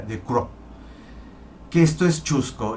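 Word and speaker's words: Ducreux: autorretratos de joseph crowe de chrome ducrós se pronuncia de coro que esto es chusco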